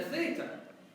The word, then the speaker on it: theta: So theta, it's going to give the sound of a TH.